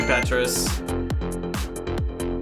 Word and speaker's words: Petres: is my that's okay that's the most common pronunciation of my name i'll take it i'll be petrus oh hell yeah this